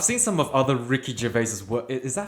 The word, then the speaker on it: Gervais: I've seen some of other Ricky Gervais's work.